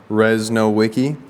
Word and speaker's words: Rzesnowiecky: Hello, my name is Rzesnowiecky, pronounced Rzesnowiecky, and I'm 21 years old, and I've been playing pickleball now for about 11 years.